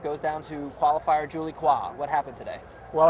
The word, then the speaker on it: Coin: Women's #1 seed Anna Ivanovic goes down to qualifier Julie Kwa. What happened today? Well, I guess Julie Kwa, or Julie Coyne, as her name is spelled in Anglo, is coin of the realm these days at the U.S.